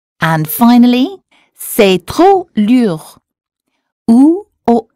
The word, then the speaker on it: lourd: And finally, c'est trop lourd. OU or U. There's an OU in lourd, so the sound should have been OU. C'est trop lourd.